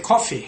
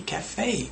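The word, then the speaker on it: café: might say in pronunciation i might say coffee i went to the coffee it's cafe a e e cafe cafe not coffee okay and uh they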